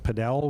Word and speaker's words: padel: We can talk a little bit about padel, which is am I saying it right? Padel?